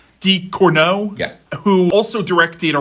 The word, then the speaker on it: Ducournau: Ducournau. Ducournau, Yeah.